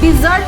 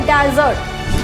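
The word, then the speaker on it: desert: डिजर्ट noun, Sandy area जो रेगिस्तान है, नाउन में होता है तब इसका प्रोनाउंसिएशन होता है डेजर्ट, और जब ये वर्ब बनता है वर्ब तब इसका प्रोनाउंसिएशन होता है डिजर्ट।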